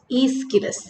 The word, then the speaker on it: Aeschylus: we are going to discuss about is named ischilus so repeat after me his name is okay you have to write down his name to uh learn the spelling of the name correctly but it is pronounced ischirus so i already told you about these competitions